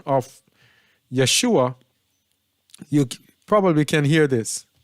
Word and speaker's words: Yeshua: probably can hear this Yeshua Yeshua Yeshua Yeshua Yeshua Yeshua Yeshua and this is a female from Israel This Is How They pronounce it with an a an a sound because they know that